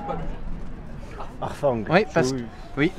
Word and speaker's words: harfang: en langue franque, le H se prononce en H aspiré.